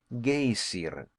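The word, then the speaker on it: Geysir: high above the waters the geyser aboard the Iceland is pronounced gay siren and which signifies Fury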